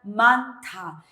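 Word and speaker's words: 많다: Por eso suena manta. Este signo no es que se escribe de esta manera, sino se lee de esta manera. Manta. La J desaparece, pero su sonido se mezcla con la siguiente sílaba.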